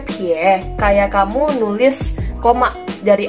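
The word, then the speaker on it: 撇: Dibacanya pie, kayak kamu nulis koma dari atas ke bawah.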